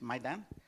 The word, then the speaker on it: Maidan: And then finally, he asks about the mass killings at Maidan, it's pronounced Maidan, and he says, do you think the Ukrainians really want you back?